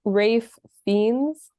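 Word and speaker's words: Ralph Fiennes: nepo in here um like uh Rafe viennas rafings I think that's Rafe fiends yeah I had to Google how to say something so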